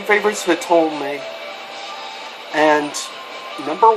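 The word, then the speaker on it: Hitomi: I believe Hitome is the correct pronouncement, but I love the character.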